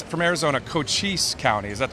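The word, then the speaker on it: Cochise: according to the and and it's from Arizona cois county is that how you pronounce that right right cois County so cois County the sheriff there said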